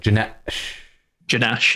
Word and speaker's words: J_Nash: Like you pronounce that with a pause. It's like Janash, yeah.